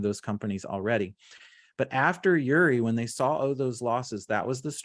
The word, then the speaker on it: Uri: time what changed was winter storm yuri i think is how you say it uri in 2021 february of